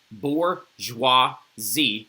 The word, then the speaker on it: bourgeoisie: The third estate is everybody else, and it's made up of the bourgeois or the bourgeoisie, okay? You see this word right here? That's how you say that, bourgeoisie, all right?